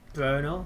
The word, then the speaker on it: Brno: I'm just going past Brno, how it's pronounced.